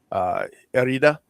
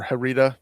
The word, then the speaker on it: herida: It's voluntad is the Spanish version of willpower, and herida or herida, if you want to mispronounce it, but to accent the fact that it starts with an H, is wounds.